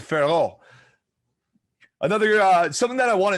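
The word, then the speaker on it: Fiorot: The T is silent, Farrow.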